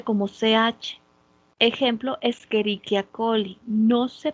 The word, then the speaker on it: Escherichia: ak juntas no se pronuncia como ch ejemplo escherichia coli no se pronuncia escherichia s escherichia la ce y la